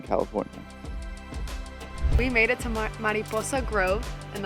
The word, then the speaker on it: Mariposa: We made it to Mariposa Grove, and that's how you say it, Mariposa Grove.